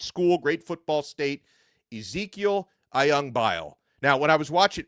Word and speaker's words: Ayangbile: I realized I had been pronouncing his last name wrong for the last couple of weeks. Ayangbile is how you say it. I had been saying Ayangbile, but Ezequiel Ayangbile has chosen the Miami Hurricanes,